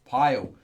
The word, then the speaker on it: 봐요: Well, there is a diphthong, 와, 보아요, 봐요. This ends up getting just pronounced as 봐요, 봐요.